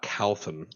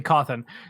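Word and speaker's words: Cawthon: was created by scott calthan cawthorne yeah he is so he started as o.r calthan yeah c-a-w-t-h-o-n h o n charlie alpha whiskey coffin yeah it'd be coffin uh i've only heard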